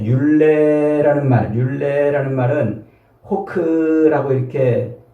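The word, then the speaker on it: חֹק: 자, 율례라는 말은 호크라고 이렇게 발음을 하는데 색이다.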